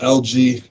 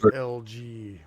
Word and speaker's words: Elgee: a New Mic" by, I believe it's pronounced LG, the Beat Detonator, and Cypherface. So these, I've never heard of these guys before. LG, oh. But it's actually spelled ELGEE.